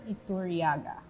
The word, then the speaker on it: Iturriaga: We have with us a filmmaker and a photographer, Iturriaga. Thank you. Oh, you pronounced my last name, right?